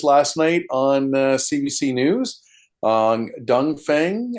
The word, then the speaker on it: Dongfeng: night on CBC News Dongfeng I think is how you say this particular manufacturer.